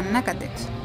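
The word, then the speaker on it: Natchitoches: Fuimos de Urania a Nacatech. Se escribe Nachitoches, una pequeña ciudad.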